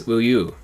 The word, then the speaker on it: Uyu: Now we have Unity, whose fandom name is Uyu. This name is pronounced like uyu, the Korean word for milk.